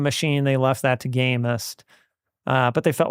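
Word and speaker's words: Gamest: They left that to the likes of Gamist, pronounced the T there.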